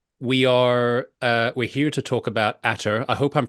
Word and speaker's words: ATER: But yes, so we're here to talk about ATER. I hope I'm pronouncing that the way I'm supposed to pronounce it.